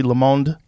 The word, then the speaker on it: Le Monde: Tribune, Gannett, Washington Monthly, Le Monde, is that how you say it? Yeah, Le Monde.